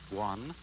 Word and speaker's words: guan: drew at the beginning, pronounced guan, or quiet observation.